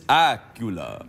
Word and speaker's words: Accola: Candice Accola sounds a bit like Dracula.